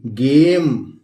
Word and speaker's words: game: इसी तरह GAME गेम।